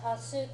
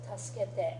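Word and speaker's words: たすけて: Important little side note, when you have a s or a she followed by a k sound, the e and the v vowel sounds tend to get shortened almost to the point of disappearing. So it's not usually pronounced tas, it's tuske.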